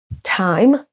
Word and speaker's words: time: On a ensuite time, time. Là, c'est ce qu'on appelle un son diphtongue, donc on a 2 sons voyelles l'un après l'autre, donc tie, time.